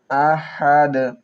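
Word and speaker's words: أَحَد: কুলহু আল্লাহু আহাদ। কুল কুল কপের উচ্চারণ কিভাবে করি খুব খেয়াল করবেন কুল কুলহু আল্লাহু হু আল্লাহু কহু আল্লাহু কুলহু আল্লাহু আহাদ আহাদ আহাদ আহাদ হা হলকের মধ্যখান থেকে উচ্চারণ করব।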